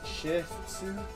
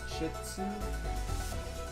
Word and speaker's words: shih tzu: what how do you pronounce that again sh shitu shitu oh okay I was